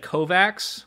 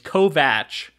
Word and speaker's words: Kovacs: to revive first off I said Kovaks forever like every time I said his name of the first episode and I'm surprised you didn't correct me it's Kovach I and I heard